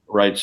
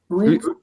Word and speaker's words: Reitz: Whenever I see E and I and E, I always pronounce the second vowel is what I pronounce. So if it's I pronounce it Wrights, but Reitz, either way, that's German.